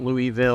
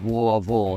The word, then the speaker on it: Louisville: Yeah, it's not Louisville or Louisville, it's Louisville. It's like O-O-C-A-U-V-U-L-L. See, that's the problem us Midwesterners have. We see a consonant and we want to pronounce every single consonant. You got to drop it.